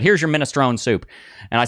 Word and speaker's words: minestrone: And the guy says, "Oh yeah, it's all the pronunciations are correct." And then he handed it to me and he said, "Here's your minestrone soup."